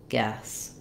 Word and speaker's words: guess: the UE e so the first thing to do is to visualize it without this U if that's helpful for you and just think about it as the three sounds GS guess and then same thing